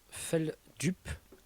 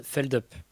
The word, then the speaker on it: Feldup: Alors officiellement, ça se prononce Feldup. Ok. De base, c'est de là que ça vient, voilà. Mais les gens anglicisent le truc et donnent Feldup.